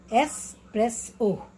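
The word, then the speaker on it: espresso: Escape, escape, एस्प्रेसो, एस्प्रेसो, एस्प्रेसो, एक्स नहीं, एस्प्रेसो।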